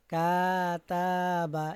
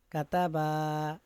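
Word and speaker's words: كَتَبَ: হরকতের উচ্চারণ তাড়াতাড়ি পড়তে হয়, মানে কোনো টান দেওয়া যাবে না।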